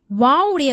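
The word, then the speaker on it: واو: வாவினுடைய மஹரஜ் பிறப்பிடம் அலிஃபுடைய மஹரஜ் பிறப்பிடம் மாதிரியே தொண்டைக்கும் வாய்க்கும் இடைப்பட்ட காலியான பகுதியிலிருந்து தான் வாவுடைய உச்சரிப்பு வெளியாகிறது. வாவை 2 உதடை குவித்து வைப்பது போல் உச்சரிக்க வேண்டும்.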